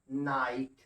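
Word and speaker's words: knight: ऐसे ही के एन आई जी एच टी, क्या पढ़ते हैं इसको हम लोग, नाइट। के का उच्चारण नहीं करते।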